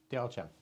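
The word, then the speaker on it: 貂蝉: Diao Chan.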